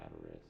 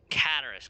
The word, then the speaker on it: Cataris: It is here in Cataris. Cataris, got it.